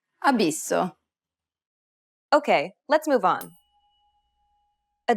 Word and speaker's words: abisso: Finally, whenever you have a double S, you need to say it with more emphasis. Pronounce it for longer than you typically would in English.